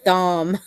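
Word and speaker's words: Thom: Hartman Oh Tom Hartman I think it's Tom I believe yeah but I pronounced his Tom it's it's spelled th om but since he's such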